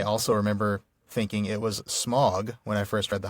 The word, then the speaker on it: Smaug: I I saw how AU was supposed to be pronounced and I've been saying smog ever since.